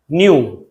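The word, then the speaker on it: nu: जैसे अभी हम एक लैम्डा लेके आए थे, अब हम एक नया सिंबल लेके आए, न्यू. इसे बोलते कैसे, प्रोनाउंस कैसे करते हैं?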